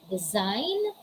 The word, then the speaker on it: design: case you don't pronounce the letter g letter g is muted letter g is silent what are the examples these are the examples the examples are design foreign sign nash align